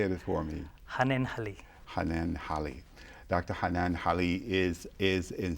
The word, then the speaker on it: Hannenhalli: Hanenhalli.